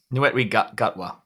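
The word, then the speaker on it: Ncuti Gatwa: Netwe Gutwa. Thank you. I was mispronouncing it.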